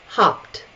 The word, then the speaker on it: hopped: The question is, do you add an additional syllable or not? Okay? Mashed. Hopped, hopped, hopped.